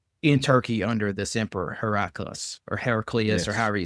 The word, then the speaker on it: Heraclius: He's a part of the Byzantine Empire under Heraclius, I think is how you say his name. Yes. Yeah.